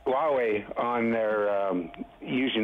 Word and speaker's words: Huawei: going to bring hawaii hallway i couldn't even pronounce it huawei huawei on their usually not for their internet they're